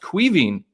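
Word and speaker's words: Caoimhín: might be injured um how many of y'all were blown away by the pronunciation of kelleher's first name i learned actually uh my guy uh craig over at anfield agenda told me it was pronounced queaving and it's spelt like koamin koamin or something so that's pretty crazy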